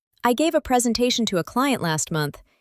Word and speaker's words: presentation: Word number 4 is presentation. 5 sounds. Presentation. The stress is on te. Many people put the stress in the wrong place and say presentation, but it's presentation.